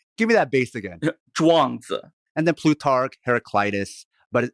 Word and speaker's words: Zhuangzi: You got to add some bass to it. That's the key. Give me that bass again. Zhuangzi.